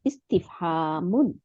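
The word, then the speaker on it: اسْتِفْهَامٌ: তাই হামজাতুল ওয়াসাল মানে একটা আলিফের নিচে জের দিবেন সিনের উপরে সুকুন দিবেন তারপরে তার নিচে একটা জের দিবেন ইস্তি তারপরে ফার উপরে একটা সুকুন দিবেন ইস্তিফ তারপরে হা ছোট হা যে আছে ছোট হা আলিফ জবর ইস্তিফ হা তারপরে মিমের দুই পেশ ইস্তেফামুন তাই না আমাদের দরকার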